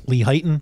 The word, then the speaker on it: Lehighton: Is that how you pronounce Lehighton? Lehighton? Lehighton?